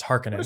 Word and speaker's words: Harkonnen: it's always be pizza just like it would be uh uh harkonnen that's just how i pronounce it it is actually no there is no side we have recordings of uh uh frank herbert it's harkening frank no art does